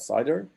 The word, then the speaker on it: CIDR: solution is cider right so called cidr pronounced that cider it's a full name